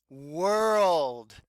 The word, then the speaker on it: world: world yes you're right we have in our control vowel and o are but it's not saying or it's saying ah so this o R sounds like an ER or we could even say it sounds like a schwa our earn it makes this sound ah so this word is